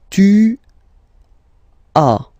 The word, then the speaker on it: tu as: Second one, tu as, okay. As usual in French, final S is not pronounced.